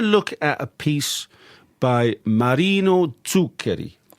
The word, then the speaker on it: Zuccheri: So yes so we're going to look at a piece by Marino Tuker. That's a very good pronunciation.